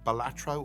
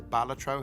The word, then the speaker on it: Balatro: One of the most immersive games I've played of late is this game called Bolatro or Balatro, however you want to pronounce it.